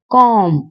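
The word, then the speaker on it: comb: ए एक कॉम कॉम कंघी। इसमें बी जो है वो साइलेंट है यानी चुप है।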